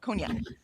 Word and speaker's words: cognac: Cognac. Um it just took me a minute. I'm like I couldn't I couldn't wrap my brain because it's spelled and sounds totally different and I had to wrap my brain around it.